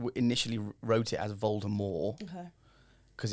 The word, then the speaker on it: Voldemort: Voldemort is pronounced Voldemort.